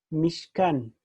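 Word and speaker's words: משכן: Y acá se pronuncia mishkan, esta palabra.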